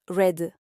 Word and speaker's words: read: On utilise le verbe to read au passé, qui s'écrit pareil mais se prononce read.